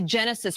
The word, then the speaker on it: Genasys: And then, of course, as Captain Burko was mentioning just a few minutes ago, the Genesis Protect app, and that's spelled GENASYS, Protect.